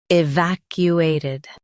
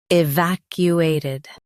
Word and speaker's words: evacuated: Evacuated. Now, read the syllables shown on the screen naturally. E. Vac. U. A. Ted. Evacuated. Stress vac and keep U smooth. Ted is light.